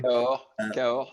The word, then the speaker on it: Cahors: from sort of in Cahors. Excuse me, Antoine, I probably didn't pronounce it correctly. Cahors, that's perfect.